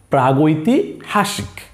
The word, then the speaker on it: প্রাগৈতিহাসিক: এখানে সেই কথাটাই বলা হয়েছে যে ঐতিহাসিক কালের পূর্ববর্তী, ওই সময়কে আমরা বলি প্রাগ ঐতিহাসিক। কি বলি? প্রাগৈতিহাসিক।